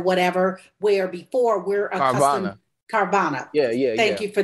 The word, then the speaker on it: Carvana: with you know cara what what is it caravan or car van or whatever where before we're uh carvana yeah yeah thank you for that i don't